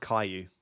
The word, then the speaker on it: Caillou: It's pronounced Caillou.